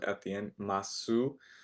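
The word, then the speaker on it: ます: masu. Um, not really. We don't really say that so much in Japanese. We just kind of drop the ooh sound and it's just okay.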